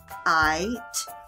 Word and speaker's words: kite: Silent Magic E is silent. He will not say anything. So that's why the word is kite.